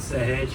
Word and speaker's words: Sahej: So just to make it easy for all of you to pronounce it, you know how living fence is pronounced, hedge? So you just add S in front of that and then it becomes one name.